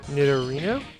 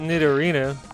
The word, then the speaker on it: Nidorino: knit a rhino nidorino as a kid i pronounced that nidorina and now i'm torn between that and nitto rhino nidorinu i depend on how much the name was changed from the japanese it could just be nidorino all right take that